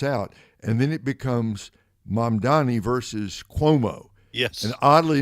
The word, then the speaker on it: Mamdani: How do you pronounce his last name? Mamdani? Mamdani. Mm-hmm. Mamdani.